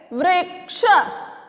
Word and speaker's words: वृक्ष: एक बार दोबारा से इसको बोलकर देखते हैं, हम इसका उच्चारण करते हैं, वृक्ष। क्या बोलेंगे, वृक्ष। आपको री की ध्वनि सुनाई दे रही है, जब आप बोल करके लिखेंगे तो आपको भी समझ में आ जाएगा।